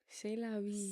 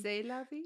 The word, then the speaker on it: C'est la vie: C'est la vie. C'est la vie.